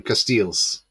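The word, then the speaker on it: Casteels: in the chat knows cases that's his name cases yeah that's how you pronounce it are the Belgian keep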